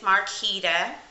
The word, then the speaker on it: Marquita: name my name is marquita and spelt with the qu and it's pronounced with a K and they call me for short I'm not gonna give you my last name but marquita and that's question number